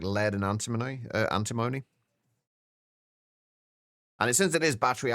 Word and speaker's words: antimony: Oh, antim uh antimony. Oh, that's another one that I think I uh I uh technically mispronounce. I always pronounce it antimony, but I think it's actually pronounced antimony.